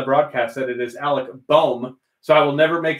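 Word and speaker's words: Bohm: here on the broadcast that it is alec baum so i will never make the mistake again of saying bomb take me bomb country roads you don't have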